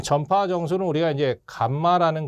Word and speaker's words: 감마: 이 전파 정수는 우리가 이제 감마라는 거 있지 않습니까? 이거 이제 읽을 때 이제 감마라고 읽어요.